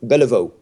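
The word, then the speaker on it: Béliveau: centre in Montreal for bella bella vita lavo Beliveau the election is the proper pronunciation and gila floor was actually photographed and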